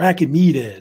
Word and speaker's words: Achaemenid: there, which is the Achaemenid Empire, or Achaemenid. It's pronounced different ways. Like Achaemenid is one of the common ways they say it.